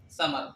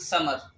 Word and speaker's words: ثمر: كما يكتب في العربيه لكن لا ينطق مثل العربي بل نطقه مثل السين سين فلا نقول فما ثمر بل نقول سمر كان هذه الكلمه من سين ليس ثاء طيب لكن عندما نكتب